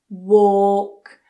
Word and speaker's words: walk: Drop that jaw, make it round. Walk. Let's compare it to the other one. Work. Super lazy. Walk. Jaw drops and it's rounder.